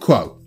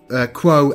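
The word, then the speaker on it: Qvo: So let's talk Quo. And it's spelled Q-V-O. So I'm just going to go with the pronunciation that I heard in the audiobook.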